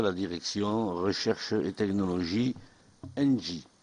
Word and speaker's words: ENGIE: Je vais donner donc la parole à monsieur Léon Duvivier, directeur technologie à la direction recherche et technologie ENGIE. J'ai bien prononcé ENGIE ? Très bien, monsieur le sénateur.